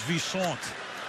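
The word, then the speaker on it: Visanthe: to be known as Visant. I said, how do you want your name pronounced? You say Visante on your introduction. Which way? I've heard 50. He said, I'm now Visant.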